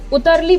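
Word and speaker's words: utterly: अटरली को कैसे हम अटरली प्रोनाउंस ना कर करके हम उतरली प्रोनाउंस करेंगे।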